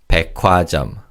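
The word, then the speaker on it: 백화점: Now, in terms of pronunciation, the kiobachim in the first syllable combines with a he in the second syllable to make a kio sound. So, this is pronounced as puajam.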